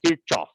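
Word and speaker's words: Kirchhoff: so i'm from india the way we pronounce it there is kirchoff so if you ever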